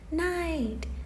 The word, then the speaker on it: night: And I have to make sure that it has the silent gh in it. I'm walking back and forth from the teacher's book right now to make sure that I have the correct vocabulary words and I'm not making something up. So I have Yeah. In the middle of the word, I have to go back. So everybody, silent gh, no sound.